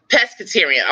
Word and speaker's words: pescetarian: still eating see full it's called Presbyterian make sure I'm saying it right pescetarian okay I said I